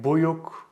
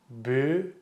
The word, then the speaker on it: büyük: If you said something like Büyük, Büyük, it's wrong. It should be pronounced as Büyük, Büyük, Büyük.